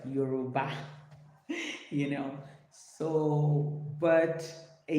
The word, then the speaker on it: Yoruba: Yeah, I'm African, let me pronounce it right. Yoruba.